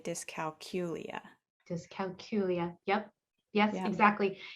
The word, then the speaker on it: dyscalculia: I like to think of it in 5 syllables.